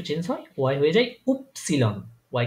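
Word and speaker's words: Ypsilon: গিয়ে আবার একটু চেঞ্জ হয় ওয়াই হয়ে যায় উপসিলন ওয়াই কে তারা বলে উপসিলন উপসিলন তারপরে হচ্ছে আমার পরের লাস্ট একদম যে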